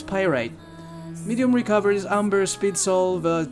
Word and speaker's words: pyrite: you're like oh my god the way you pronounce words is painful let me help you with that so yeah it's pyrite medium recoveries amber speed solve charge attack plus